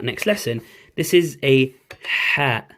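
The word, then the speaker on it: ح: Okay, so the Ha is like a H, but it's coming from your throat.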